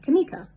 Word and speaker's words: Kameka: For instance, my name phonetically is spelled K A M E K A or K A M E E K A with a emphasis on the E. So kam and then put it together kamika.